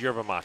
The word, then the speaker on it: yerba mate: Portland Mercury, and Gyaki Yerba Mate. Is it yerba mate or yerba mate? I heard someone say yerba mate and that felt wrong. No, it's yerba mate.